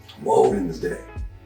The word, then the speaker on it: Wednesday: figure it out but that's Wednesday wen's day well if you going